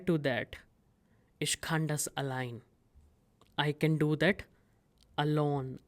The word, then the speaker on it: allein: But the reply to that, ich kann das allein. I can do that alone. Allein, this is not alien. Some students pronounce it as alien. This is allein, which means alone.